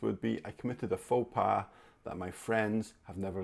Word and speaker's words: faux pas: to look at is faux pas faux pas so this as you can tell from the sound i guess comes from french and it's like a